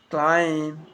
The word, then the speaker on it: climb: all the silent point it follows the letter m climb come lamb thumb thumb so practice them with me i am not pronouncing the b i am just pronouncing the m consonant sound prime come lamb come